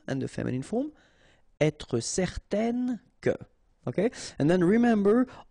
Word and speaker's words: certaine: Okay, so it's nasal in your nose, un. Okay, if you add this at the end, then it will change the thing, and then you will pronounce it n.